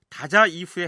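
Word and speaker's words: 大宰府: 일본 왕이 대제부에 그렇게 명했다는데, 우선 일본식 발음으로 다자 이후에 해당하는 이 대제부란 어떤 것인지 윤재훈 연구위원의 설명을 들어보기로 하죠.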